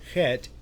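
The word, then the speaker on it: חית: This is the hey, and this is the chet. The difference between the two on the sound phonetically, the hey makes like the H sound. The chet makes like it's like a hissing cat.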